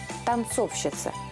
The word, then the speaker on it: танцовщица: узнаем попробуем рассуждать логически а как в других словах подобного типа мы ставим ударение ну например крановщик ударение падать на суффикс щик но прапорщик курильщик посмотрите ударение падает не на суффикс она корень попытка выстроить какую-либо логику в данном случае не приведет нас к успеху надо просто выучить танцовщик танцовщица это правильный вариант по-другому говорить неправильно если в мужском